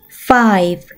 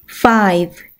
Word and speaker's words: five: 다음 단어, E는 발음이 나지 않고 F, F, I는 I, F, F. 한 번에 읽으면 Five, Five.